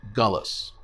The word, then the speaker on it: galus: Another is galut, or in Yiddish, galus. Galut or galus, your choice of pronunciation, means exile.